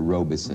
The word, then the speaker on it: Robeson: you were with Paul Robeson? Yeah. In Showboat. Did he say Robeson or Robeson? Robeson. He always said two Robeson. syllables. A lot of people say Robeson, but he said Robeson.